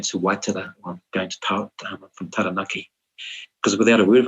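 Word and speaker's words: Taranaki: loud on my own say tanaki not tanaki because it felt wrong didn't roll off the tongue properly it was hard step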